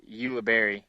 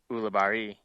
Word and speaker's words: Ulibarri: um that doesn't help in in English it's ulber but it's actually a Spanish name which is pronounced uari oh so when everybody calls me oie or